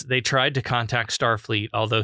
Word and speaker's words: Starfleet: they tried to contact Starfleet although he pronounces it Starfleet the emphasis that he put on star not Starfleet at Starfleet and they